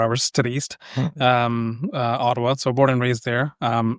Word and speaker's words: Ottawa: Natively, we pronounce it as Ottawa. So you think there's the letter D's in there.